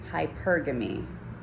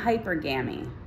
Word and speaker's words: hypergamy: okay all right so it's hypergamy not hyper game hypergamy okay say it with